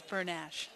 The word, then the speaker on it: Bernash: Very picky as well as we were doing our pronunciations to make sure it was Bernash.